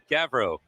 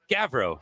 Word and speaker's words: Gavrow: understandable your last name again is gavrow yeah yeah gavrow like g-a-v-r-o-w if you were going to pronounce it i guess but okay because rob's